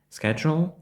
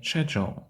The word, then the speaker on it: schedule: помиляються але тут нюанс в цьому слові дві правильні вимови іноді Ми чуємо schedle А іноді shдle schedle - це більш американська вимова А shдle є більш британською мовою тобто я можу